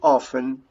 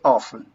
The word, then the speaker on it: often: this when you pronounce often americans don't pronounce the letter t in that situation most of americans say often often the same in